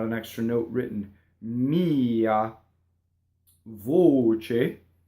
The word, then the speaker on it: voce: Mia voce. Okay, closed O. Not voce with the double ch. Voce.